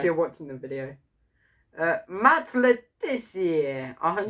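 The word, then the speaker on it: Le Tissier: Matt Letizia, 102. He's not French. Why would you say his name like that? He's English.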